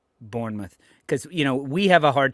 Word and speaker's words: Bournemouth: can save, I wonder how Bielsa would pronounce Bournemouth, because we have a hard time when we first saw it over here and not knowing the club. There you go. When we would say Burnmouth, that's how a lot of people when they